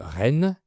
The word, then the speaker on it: Rennes: La ville de Rennes, c’est la même prononciation qu’une reine, donc la femme d’un roi.